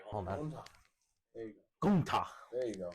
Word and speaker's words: Gunther: I see Gunther main eventing for next year's WrestleMania.